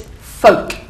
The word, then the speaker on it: folk: There's no L. Imagine the L is not there. It's not an E on the end, if you like. But it's folk.